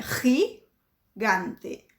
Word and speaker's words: gigante: complicada de pronunciar, porque o primeiro G tem o som do catarrinho aqui, e o segundo G tem som de G. Então é gigante, tá?